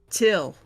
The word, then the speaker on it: Teal: name is teal it's spelled like light but backwards but it's pronounced till and it's it's so [